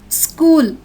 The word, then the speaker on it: school: The CH syllable is pronounced as k, k. Ache, k. Echo, k. Stomach, k. School, k.